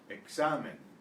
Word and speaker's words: examen: The X is usually pronounced KS, as it is in English, box and sax. Before a consonant, however, it's pronounced usually like the S of the English C.